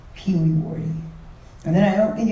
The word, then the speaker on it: Pewewardy: But the actual pronunciation is Pee Wee Wardy.